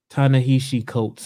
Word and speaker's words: Ta-Nehisi Coates: I was watching a YouTube video this week, actually, as a matter of fact, and I hope I don't mispronounce his name, but Ta-Nehisi Coates, I believe is how you...